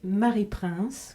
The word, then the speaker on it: Mary Prince: bonjour bonjour vous interprétez Marie prince que l'on voit derrière vous je le prononce à la française comme vous oui moi